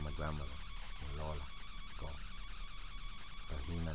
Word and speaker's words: Regina: Regina Legaspi. So it's like that. You roll your R's, la la la la la. For those of you who don't have that within the language, that's a good way to get it.